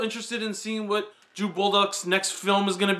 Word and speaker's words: Bolduc: in seeing what Drew Bolduc's next film is going to be. I'm probably pronouncing it like Bulldog, but it's B-O-L-D-U-C, so Bolduc.